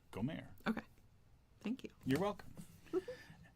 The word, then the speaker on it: Gomer: No, because that would be how you said it in Hebrew, because the accent's on the second syllable. We say Gomer. She would have said Gomer.